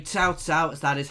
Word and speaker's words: Cao Cao: I'm saying Cao Cao as that is how I've been told to try and pronounce it, guys, rather than Cao Cao as I did originally.